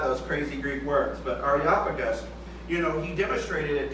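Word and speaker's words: Areopagus: it's supposed to be said is Ario Arop Aropagus in the town of Aropagus.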